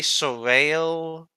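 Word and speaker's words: Soreil: I've always like it's spelled Soil. They sort of say Sorel. You could pronounce it whichever way you want.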